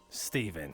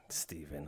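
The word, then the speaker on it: Stephen: of falls into that St Steven with a p p where's the P go s t e p h e n oh St that stepen I thought it was like spelled like Steve and then n at the end anyway I'm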